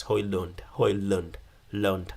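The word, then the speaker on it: Højlund: are Rasmus Holland and he's definitely come out and say the proper pronunciation of his name is Rasmus hoyland Lund anyway it's gonna give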